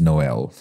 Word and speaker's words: Noel: author of 24 books Noel by the way is pronounced Noel not like here in Australia where people say n hash just saying so I'm going to call him Noel through the whole volume